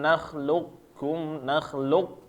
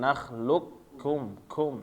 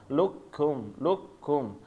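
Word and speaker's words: نخلقكم: Jadi membacanya secara langsung masuk ya, Bapak-bapak. Alam nakhluqkum, langsung masuk ke ka dengan hamas. Nakhluqkum, jangan ditebelin. Ketika luqkum, tapi langsung luqkum. Alam qafnya hilang ya.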